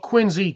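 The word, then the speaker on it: quinzhee: know if I could do a was it kiny or Quincy which is it is it a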